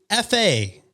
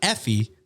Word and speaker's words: Effie: Also, you've been pronouncing Effie wrong. It's pronounced F-A, like just saying the two letters, not Effie from the Hunger Games, Oh, that makes sense.